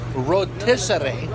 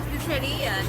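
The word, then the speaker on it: rotisería: Rotisseria, not rotisserie. Well, it's rotisserie. Yeah. Rotisserio. How do you say it in Spanish? Rotisseria. Espanol. Rotisseria. Rotisseria. In English, we say rotisserie.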